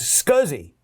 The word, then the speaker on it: SCSI: they're talking about a scuzzy connector which is a small computer system interface that that SCSI is pronounced scuzzy uh so but there